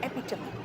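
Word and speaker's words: epitome: उसी तरह से अगर हम कहे एपी और टीओ एम ई टोम होता है। लेकिन ये प्रोनंसिएशन आता है एपिटमी।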